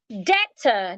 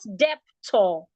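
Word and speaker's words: debtor: joining your questions please deta d e b t o r is deta not depto data June June is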